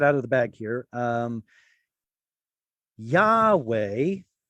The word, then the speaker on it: Yahweh: Yahweh is what the scholarly consensus is on how God's name was probably pronounced in ancient times.